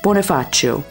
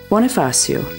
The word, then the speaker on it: Bonifacio: In Italian, the place which got its name from the Margrave Boniface of Tuscany in 828 is pronounced Bonifacio, and in French, Bonifacio.